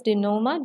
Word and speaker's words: denouement: The correct pronunciation is denouement.